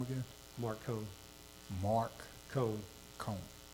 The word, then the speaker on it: Cohn: Cone. Like Spell that. C-O-H-N, but you pronounce it like Conehead.